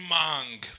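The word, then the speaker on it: Hmong: It's mong, but it's spelled 'Cause with an there's- H first, so they fucking H.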